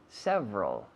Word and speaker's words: several: Several. Several. Varios. Several. Several. ¿Xavi? Several. Several. Muy bien. 2 sílabas. Several. Several, no. Several. Several. Con la V, como un F vocalizado.